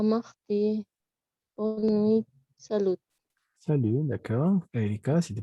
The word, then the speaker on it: salut: bonne Salut. nuit, salut. Salud. Esta T, hemos dicho que no se pronuncian las T's al final.